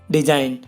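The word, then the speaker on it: design: For example guys, डिजाइन। अब इसमें ही देख लो गाइस, एन से पहले जी आया हुआ है तो जी साइलेंट है हमारा इसमें।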